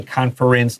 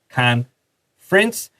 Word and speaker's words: conference: We don't really say conference. 那个 ER, underline it and draw a little X. So you don't say conference like comfortable. It's conference.